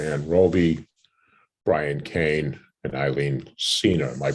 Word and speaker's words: Eileen Senior: from Hometown, Deborah Ann Roby, Brian Kane, and Eileen Senior. Am I pronouncing that correct, Eileen?